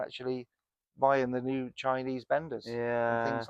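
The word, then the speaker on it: Benda: But then you got these new Chinese companies like Bender and people like that that are coming on. I mean, it's terrible name for a bike, but it's spelled B E N D A.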